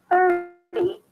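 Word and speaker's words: thirty: Versus 30, here it's a flat T, so it sounds like a D.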